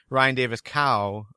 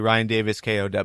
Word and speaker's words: Ryan Davis K: last week um I I pronounced his his name as Ryan Davis cow uh but it's really Ryan Davis K so yeah but thanks